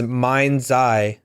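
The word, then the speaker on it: Mind-Zei: guy whose name is mind Z mhm but not but not e e ye e it's like a z AI or something it's it's so it's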